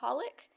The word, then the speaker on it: xxxHOLiC: do we have a holic which is one of my favorites um it's actually spelled like xxxholic the Japanese like throwing random X's into things and they're silent yeah like Hunter Henry